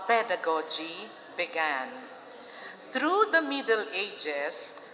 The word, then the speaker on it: pedagogy: and andragogy thank you the pronunciation is first accent of the first syllable hindi pedagogy hindi andragogy pedagogy andragogy okay okay this